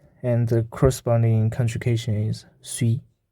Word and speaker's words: suis: It's like English I, and the corresponding conjugation is suis. And we have noticed that the letter in the end does not pronounce.